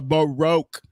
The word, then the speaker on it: baroque: A baroque. Oh, broke. Broke is one syllable. A baroque is two syllables.